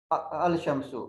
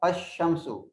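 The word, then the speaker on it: الشمس: If you find Shadda, you don't pronounce Al-Shamsu. You pronounce Ash-Shamsu.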